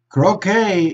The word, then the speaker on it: croquet: similar to two to baseball okay so but croquet is pronounced with without the tea and cricket pronounced